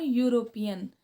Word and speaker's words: European: A European. See here, European starting with the alphabet E, but E is silent here. We are reading European means U. We are starting to pronounce it with U.